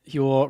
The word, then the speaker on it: Huel: Martha always said Huel rhymes with gruel, which is what I usually think of when I think of it.